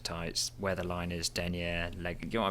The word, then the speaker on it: denier: Pantyhose alone would be thin denier. I learned this, which I learned later. Denier, not Denier, which is the way I pronounced it.